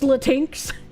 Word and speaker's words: Latinx: Latinx, thanks. It's pronounced Latinx. I don't want to call anyone a latinx or Latin X, but I got to read their gobbledegook language.